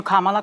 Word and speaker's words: Kamala: Kamala, and I'm calling you Kamala because for all of those who are mispronouncing it, I want you all to know how to say it.